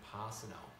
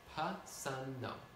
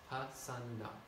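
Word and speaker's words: Pasanno: back to calling him Pasano. Once a year, he would say, Pa-san-no. One S, two N's. Pa-san-no. And then the next day, people would go back to calling him Pa-san-no, which is Pa-san-no.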